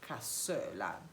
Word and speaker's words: Cassoeula: of the Milanese cuisine, and it's called la Cassoeula. But we have a problem because Nazim cannot pronounce this name.